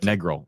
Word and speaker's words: Negril: your IP in okay sorry Negril Negal thank Negal I I didn't know either so learning on